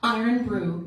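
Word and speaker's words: Irn-Bru: Iron Brew. You say it like an Iron and brew like a brew.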